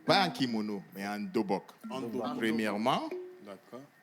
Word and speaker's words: dobok: en kimono, mais en dobok. Premièrement, en langue coréenne, on dit dobok, qui s'écrit D-O-B-O-K. D-U-B-U-G, certaines personnes écrivent comme ça, dobok.